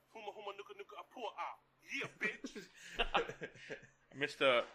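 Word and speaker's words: humuhumunukunukuāpuaʻa: Huma huma na huma how. Yeah, bitch. Close. Greenback. What's the state fish of Hawaii? Huma huma nuka nuka apua ah.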